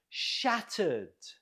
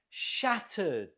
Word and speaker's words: shattered: Note the stress on the first syllable. Shattered. Can you repeat? Shattered.